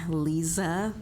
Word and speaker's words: Lisa: Lisa, and it does look like Liza, but it is pronounced Lisa.